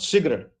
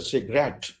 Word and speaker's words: cigarette: is engineer engineer and it's not cigarette it's a cigarette rat is where the stress is inferiority the word is